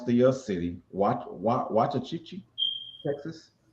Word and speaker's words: Waxahachie: I can't pronounce the city. Waxahachie, Texas. Waxahachie.